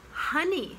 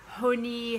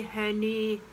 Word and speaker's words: honey: And honey, same as money. Not honey, honey, honey.